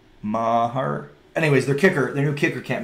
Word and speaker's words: Maher: Mark can't afford to miss any field goals in this game.